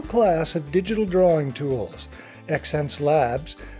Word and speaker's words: Xencelabs: Xencelabs, pronounced sense, merges the ideas of human senses, innovation, and the laboratory approach to experimentation and progressive product development.